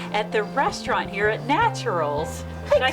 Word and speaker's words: Natcheryl's: So I'm going to welcome you, and you're going to meet Cheryl at the restaurant here at Natcheryl's.